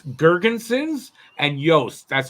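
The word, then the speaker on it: Girgensons: It's Gergensons and Yost. That's how you pronounce it.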